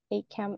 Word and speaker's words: ACAMH: ACAM is spelled A-C-A-M-H.